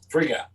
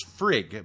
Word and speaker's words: Frigg: voice god i think friga in this case it's frigg because it's based on early english yeah because they the